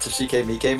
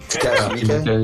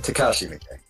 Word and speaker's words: Takashi Miike: just Travis and his buddy Bishop talking about Toshike Miike movies. Takashi Miike? Yeah. Takashi Miike. Fucked up the pronunciation.